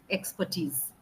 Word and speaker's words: expertise: So when you say expertise, better off to you pronounce it as expertise.